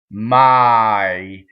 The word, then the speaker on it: mai: on my right so there's no harmonization in that word it's ah II my there's not really Americans tend to do a Y sound let's in English for my right it's too closed my it's two separate vowels that go by fast the semi vowel is